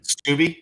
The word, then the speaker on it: Steube: Greg Steube, I hope I'm pronouncing that right, a Republican from Florida. Steube, thank you, Jason.